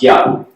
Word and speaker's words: IUP: I'm going to be talking about the library, IUP, or YUP today. I learned last year at this workshop that it's pronounced YUP.